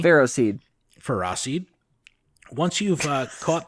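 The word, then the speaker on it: Ferroseed: celosis and ferracid and ferracid is the actual correct pronunciation get at me pharaoh seed ferracid once you've uh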